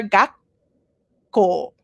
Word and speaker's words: 学校: Okay, try to get that pause pronunciation. 学校. Okay, you say little bit of the letter gakko. It stops, okay? Gak, like halfway through. Gakko.